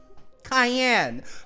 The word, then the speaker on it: Cayenne: My apologizes, Miss, Cayenne, pronounced like the pepper.